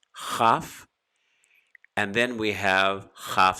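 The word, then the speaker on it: כ: in the center, or if we remove the dagesh, the dot in the center, it's called or pronounced chaf.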